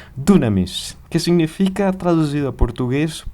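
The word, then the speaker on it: δύναμις: justamente com essas letras, mas que a sua pronúncia é muito similar a dizer dunamis, que significa, traduzido a português, poder ou capacidade de fazer algo.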